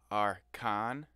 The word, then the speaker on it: ARKA'N: the channel this one i believe is pronounced are khan correct me if i'm wrong um song called tears